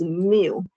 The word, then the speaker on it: mu: This one is kind of uh pronounced mu.